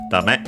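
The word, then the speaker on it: ダメ: I think accented on the second syllable, the last syllable, yes, dame, which means no good,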